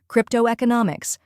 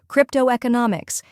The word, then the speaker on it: cryptoeconomics: all together slowly cryptoeconomic try repeating after me cryptoeconomics now a little faster cryptoeconomics and at full speed cryptoeconomics keep practicing and soon you'll have it down